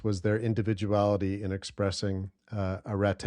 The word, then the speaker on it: arete: These different actions of using the tool to achieve excellent results was their individuality in expressing arete. I'll use the sort of biblical Greek pronunciation.